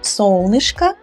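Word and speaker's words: солнышко: neutral noun singular right the ending o is singular hard ending solnishka dialla same ending so this o is unstressed of course that is why we pronounce it as sol nishka and if you want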